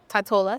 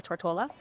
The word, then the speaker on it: Tortola: So Tortola specifically, or Tortola, the right way to say that.